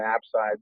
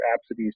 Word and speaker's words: apsides: perigee to the apogee, the line of apsides or apsides, depending on how you want to pronounce it, that rotates around at about 220 degrees per year.